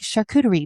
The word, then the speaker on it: charcuterie: And I was like, charcuterie, meat and cheese board. Why aren't you calling it meat and cheese board? I'm like, because it's charcuterie. Because I took French.